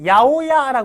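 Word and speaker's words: 八百屋: 읽어주시면 되는데요 자 그 야오야 그랬죠 야오야 참 이것도 어이 시험 문제라든가 이게 우리나라 사람들이 읽기가 참 어려운 것 중에 하나기 때문에 이건 꼭 기억해 두셔야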